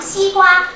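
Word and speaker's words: 西瓜: 其实这个西瓜呢，是一种清读的音啊。如果说我去考试，让我读西瓜这两个，我读成西瓜是不可以算你错的啊，不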